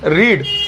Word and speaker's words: read: अब पढ़ने को क्या बोलते हैं, रीड। और रीड की जो थर्ड फॉर्म होती है वो रीड लिखने में आती है रीड, मगर बोलने में आती है रेड, रीड, रेड, रेड, ठीक है।